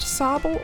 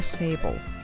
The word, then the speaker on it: sable: (disk thudding) - Is it pronounced SAHble or SAYble?